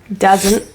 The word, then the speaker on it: doesn't: the stranger doesn't doesn't so the T in this word is pronounced as a glottal te doesn't so there is like